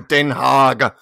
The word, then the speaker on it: Den Haag: That's how you say it in Dutch. You're picturing this giant pig that he's reporting to. I must report to Den Haag.